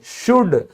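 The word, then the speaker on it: should: तो चाहे शुड हो, आपका कुड हो, आपका वुड हो, हर जगह क्या है, एल आपका साइलेंट है।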